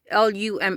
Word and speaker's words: LUMA: LUMA is the name of the company, which in Spanish is pronounced Luma.